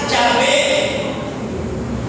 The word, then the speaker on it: yahvé: e la H la b y la H yahvé ellos añadieron tres bales e o a y